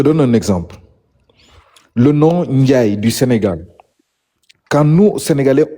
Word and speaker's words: Ndiaye: Oui, le nom Ndiaye, nous, on l'écrit N-D-I-A-Y-E. Partout, on dit Ndiaye.